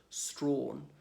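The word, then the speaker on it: Strachan: like it's belts tracking well looks like it's pronounced tracking but pronounce it strong break one for the long ways there what's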